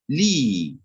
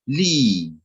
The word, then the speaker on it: لي: One is short, one is long, but they are not written the same.